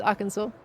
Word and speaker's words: Arkansas: It's Arkansas. Or Kansas, Arkansas. Arkansas, Arkansas. There's another state that, like, get pronounced differently depending.